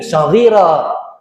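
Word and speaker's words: صغيرا: Kama rabbauna sighara bacanya, kama rabbayani saghira, bentuk mufrad lagi, jamak lagi. Kama rabbauna dhamir jamak tuh, sighara. Kalau kama rabbayani saghira, gitu. Jangan salah baca, ya.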